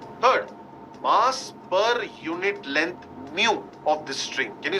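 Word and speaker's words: μ: second dependent Force third mass per unit length mu of the string can you see the symbol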